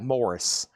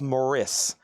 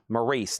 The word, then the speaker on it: Maurice: Maurice is pronounced like Morris. Really? Morris Gibb. You've got to be kidding me. I didn't know that. Love Moraice. Morris. Maurice.